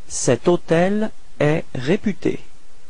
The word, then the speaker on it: hôtel: Keep in mind that even if hotel is starting with H, H is actually not pronounced, so the first sound of the word is O, so it does mean that it's a vowel, and in this case